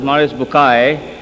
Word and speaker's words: Maurice Bucaille: and a scholar of Quran Dr moris buk pronounced as moris bukai right doctor matter okay uh he a native